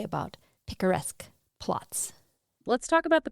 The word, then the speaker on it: picaresque: I had never known what a picturesque plot was. I think it's picaresque. I didn't know how to pronounce it either, apparently.